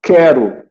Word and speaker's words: quero: Quero, tá? Queijo. Aí o U não é pronunciado, faz parte de um dígrafo.